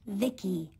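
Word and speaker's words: VICI: transistors by the way i'm the ici pronounced vicky my creator was vivi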